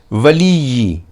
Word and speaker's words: ولی: جھنجھناہٹ محسوس ہوتی ہے۔ ولی، یہاں پہلے دونوں حروف عام تلفظ سے جبکہ یا مشددہ کو زور دے کر ادا کرنا ہے تاکہ تشدید والے حرف کے اندر موجود دونوں ایک جیسے حروف کی درست اور مکمل ادائیگی ہو سکے۔ اس کے بعد الگ